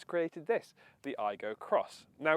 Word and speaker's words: Aygo X: and just so we're clear that cross is pronounced cross rather than x somewhat confusingly you might notice that the proportions